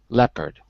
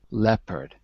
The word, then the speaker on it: leopard: vow in Le and the O is silent so even though it's written we don't say it so in fact it